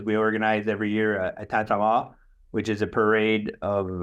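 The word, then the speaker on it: Tintamarre: Okay, and that's called, how's that pronounced again? Tantama. Okay, I kept pronouncing it Tintamar, and I actually sat on the lawn of their bed and breakfast and watched the festivities go by.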